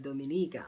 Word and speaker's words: Dominica: part of the Caribbean and this is the dominica Oh finally I got the pronunciation right I always mess up with the